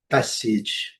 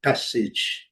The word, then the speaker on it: passage: Outra palavra também que é bastante, né, conhecida é passage, passage, passage. Com som de I, é não pronunciado.